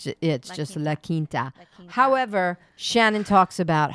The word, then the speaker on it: La Quinta: La Quinta? It's La Quinta. La Quinta is not. But you're saying it like it's written.